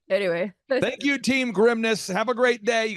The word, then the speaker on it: Grimnes: So someone's going, Grimes. That's it. You got it the first time. If you add an S, you will pronounce it correctly. Yeah. So think of it. My dad would say, think of it as like, don't say this, Dad. He's like, think of it as like the grimness of the situation.